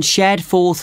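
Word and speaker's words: Shadforth: did you get the address of kangaroo lodge yes it's on shad fourth lane can you spell that s h a d f o r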